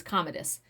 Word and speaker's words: Commodus: fighting against commodus i know i said his name wrong yesterday i said commodus why the fact did i say that is commodus commodus who he has just temporarily disarmed sword